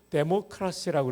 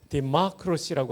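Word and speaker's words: democracy: 우리가 민주주의라 할 때 영어로 데모크라시라고 그러죠. 또 미국식 발음은 디마크로시라고 하는데 어쨌든 데모스와 크라시가 합해진 겁니다.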